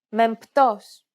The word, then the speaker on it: μεμπτός: For example, the combination of M and P in Greek is never pronounced as B when followed by a T sound. Every letter in this case is pronounced separately.